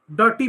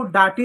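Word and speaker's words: dirty: जैसे यहां पर इसको हम डर्टी पढ़ेंगे। इस आई को डटी नहीं पढ़ेंगे।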